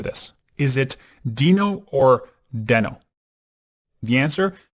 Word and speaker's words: Deno: get ready for this is it Dino or den oh the answer it's pronounced Dino and some reason I've always been calling it